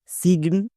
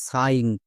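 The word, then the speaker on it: sign: একে কে ভুল করে কেউ কেউ উচ্চারণ করে সিগন বা সাইন কিন্তু এর সঠিক উচ্চারণ কোনটা চলো দেখে নিই এস এর জন্য দন্তস প্লাস আইজি এন এটা হচ্ছে ওয়াট প্যাটেন এর জন্য উচ্চারণ হয় আইন তাহলে দন্তস প্লাস আইন কি হবে সাইন সো ভুল করেও আমরা সিগন উচ্চারণ করবো না আরো কয়েকটি ওয়ার্ড দেখো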